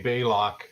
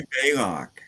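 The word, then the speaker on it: Balok: that that's um I changed my name aka Bailock. So I'm not How do you spell that anyway? Hi Robert. B A L O K. Block. Block. Fit to be bailock.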